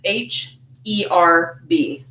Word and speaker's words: herb: Well, this is an intriguing one, actually, because had I grown up in 18th century England, I would pronounce it much the way that most Americans do, by dropping the H on herb.